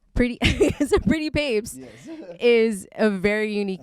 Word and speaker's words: Pretty Pape$: story yeah uh well a lot of people will be like oh man pretty pretty pappas pretty papa's pretty put papels they're like those are like kind of like mess with the with the with the pronunciation but it goes as papes tapes is in like rolling like rolling papers oh okay so when